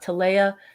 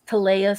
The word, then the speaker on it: Taleah: name is spelled because it's not to leia it's taleah so i'm just going